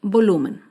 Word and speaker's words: volumen: Otro ejemplo de palabra grave sin tilde es la palabra volumen. Volumen se acentúa en la penúltima sílaba, pero no lleva tilde porque termina en N. Volumen.